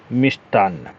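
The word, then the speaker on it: मिष्टान्न: लगता है सही है लेकिन जब बात आएगी मिष्ठान की तो हम उच्चारण इसका सही वर्तनी कैसे लिखेंगे या सही उच्चारण कैसे करेंगे मिस्तान ट लग जाएगा मि टान अब चाहे इसमें ना लगा के ऐसे कर दीजिए या फिर आप जो ऐसे कर दिए कर दीजिए मिष्टन ठीक है यह दोनों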